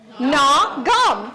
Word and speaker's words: Nagham: thing, and I said, I actually had to write down GNAW. How do you say that? GNAW. What's that? Gnaw. And then what do you chew on? Gum. So put those together. Gnaw, gum. That's how you say my name.